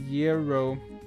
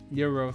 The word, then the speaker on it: gyro: Gyro is Yurro. Gyro Yuro.